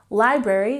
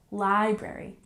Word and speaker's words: library: pay attention to pronunciation Library we have the emphasis on the first syllable library library good and number seven get